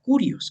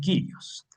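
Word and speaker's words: κύριος: Y en griego seizó la palabra curios, que también quiere decir señor, o también otros lo pronuncian kirios.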